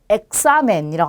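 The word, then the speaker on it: examen: 자, 끝에서 두 번째 모음에 오니까 첫 번째, 두 번째 여기에 강세가 오겠죠. 자, 그러면 읽으실 때 엑사멘이라고 합니다. 엑사멘, 시험을 뜻해요.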